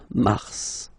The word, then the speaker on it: Mars: it's an exception because normally final s is not pronounced in French okay we've got some exceptions and this one is one of them so Mar pronounce the final s Mar Mars okay then ail ail